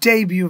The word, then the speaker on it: debut: video yeah inou right yeah so it's your debut video okay what is the pronunciation debut and what is the spelling d